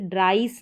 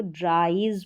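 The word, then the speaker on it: dries: तो यहां पर भी जैसे ड्राइस नहीं पढ़ेंगे इसको ड्राइज पढ़ेंगे इसको हम ट् वाइस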